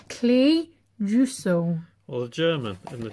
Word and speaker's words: Clejuso: to read that sclerosis that does not say cleo so that does not say clear so see you so that does not that says clay jusso well the german and the germans pronounce it